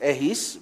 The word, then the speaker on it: Ehis: Okay, my name is Ehis. Maybe that will be easier to pronounce.